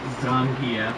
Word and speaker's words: Zangief: the Russian professional wrestler Zangief. Well, actually his name is pronounced Zangia, but I've been calling him the gef since